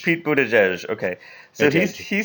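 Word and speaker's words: Buttigieg: you know how to say his name Pete Buddha judge Pete Buddha judge okay so he says to his boyfriend Chaston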